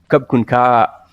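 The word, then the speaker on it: ขอบคุณค่ะ: Kun Ka, and then you have a long A at the end of the Ka, so it's Kub Kun Ka.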